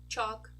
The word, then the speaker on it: chalk: over here is the ah oh so Bonk chalk talk stock walk another group where a group